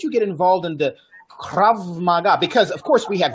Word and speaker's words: krav maga: so question for you you got involved into krav maga am i pronouncing that correctly yeah it is a very